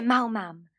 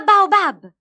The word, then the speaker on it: baobab: Non si dice Mau-Mam, ma Baobab. Sai almeno cosa sono?